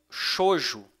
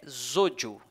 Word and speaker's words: Xojo: clique é interessante que algumas pessoas pronunciam xoxo e em português porém o o nome é correto é zoo esse xis aqui tem o som de z então fica o sutil